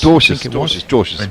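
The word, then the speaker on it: Dwarshuis: Dwarcius, beg your pardon, yeah. DWR. When I saw his name, I thought, surely his jingle must be Our House, but if he's pronounced Dwarcius, then probably not.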